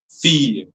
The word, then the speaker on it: fille: So it will be fee, not fee, but fee, fee, fille.